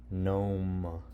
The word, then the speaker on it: gnome: Gnome. Strange word, huh? Gnome.